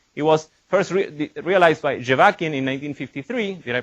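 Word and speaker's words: Zhevakin: do this right it was first realized by javakian in 1953 did i pronounce that right yeah jovacin yeah good all right that this is the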